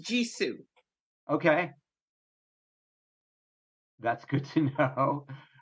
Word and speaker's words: JISU: ring just went off um okay and it's pronounced jisoo okay that's good to know uh do you